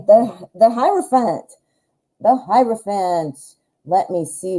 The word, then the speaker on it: hierophant: write your name the hierophant hierophant i cannot say it when i see it spelled correctly i always say the hero fan the i say it wrong every time so i like the